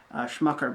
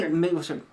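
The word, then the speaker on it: Smecker: The other big mid-90s thing in this was Willem Dafoe's character, Schmucker, because only... Schmecker. Schmecker? Oh, yeah, Schmecker. Rhymes with pecker.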